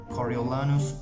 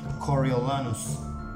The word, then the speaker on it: Coriolanus: it that's for sure coriolanus coriolanus coriolanus please correct me if i'm wrong i mean please give